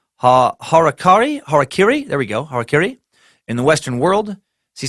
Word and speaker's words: harakiri: I've always heard as like harikiri. That's definitely wrong. That is definitely wrong if you're trying to pronounce it right.